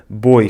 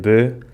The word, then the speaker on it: boi: The Azorean accent takes this transformation of diphthongs even further to the extreme. Boi becomes “bô”, "viu" becomes “vi” and "pastar" (grazing) becomes “pastâ”.